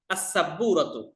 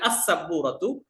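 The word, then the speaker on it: السبورة: অথবা আল বুরফাতু কামরাটি আসসাব্বুরাতু সাব্বুরা সিন কিন্তু হচ্ছে ওই আপনার কি বলে যে শব্দ হরফটার শুরুতে আসছে আলিফ লাম মানে লামটা উচ্চারণ হয় না তার অন্তর্ভুক্ত তাহলে আসসাবুরাতু ব্ল্যাকবোর্ডটি আল হাকিবাতু ব্যাগটি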